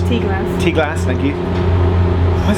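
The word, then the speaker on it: Ty Glas: two stations on the whole network between between Tylass. Tasslass. Tasslass. Thank you. Why has it got Y it then between Tasslass pronounce it and Birch Grove?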